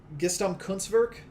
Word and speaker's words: Gesamtkunstwerk: mispronounce, which I'm sure I will, but is Gesamtkunstwerk. It's a German word. Sounds like you pronounced it right.